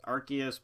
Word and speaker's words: Arceus: I know it's Arceus, but Arceus just sounds better.